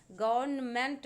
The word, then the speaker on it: government: गवर्नमेंट पढ़ते हैं लेकिन गवर्नमेंट होता है, ध्यान रखिएगा। एन जो है वो आपको लिखना है बट प्रोनाउंसिएशन इसका नहीं करना है।